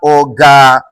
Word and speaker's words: organize: particular word is that whenever you have a word that ends with ISE or either IZE, you are expected to stress the third syllable and you must start your counting from the end of that syllable. So as a result, you are expected to have organize. Ladies and gentlemen, it is important to note that organize is a 3-syllable word.